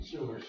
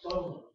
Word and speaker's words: Sumer: Yesterday I referred to the ancient civilization of Sumer, which I've been calling Sumer all my life, and she went, Soma. And I said, what? And she said, Soma, it's pronounced Soma.